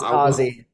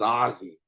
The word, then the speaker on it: Azi: known as I definitely should have asked if I could pronounce his first name uh it's aie it's aie all right so I